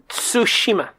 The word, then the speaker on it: Tsushima: two Tsushima so Shima can you can you pronounce that again it's Tsushima okay don't just see more this I don't